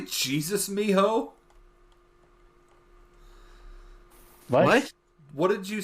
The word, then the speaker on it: mijo: like it if anything it actually sounded like Miho which the whitest way ever would be Jesus mijo oh that's true because they spell they spell it starts with a J in Spanish because they misspell it